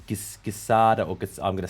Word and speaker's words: guisada: Guisada, I'm going to say it wrong. My pronunciation is terrible. Oh, guisada tacos.